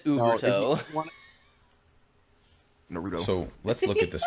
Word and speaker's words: Uberto: I guess you're in Americ just just just say Uberto. Just just put the emphasis on the E. Uberto. Yeah, but instead he said Uberto.